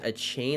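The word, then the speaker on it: Achane: and they also got Devin a chain I believe is how you say his name who's a running back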